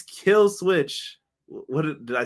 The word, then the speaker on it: Killswitch: It's Killswitch. What did I say it wrong again? Oh, Luchasaurus.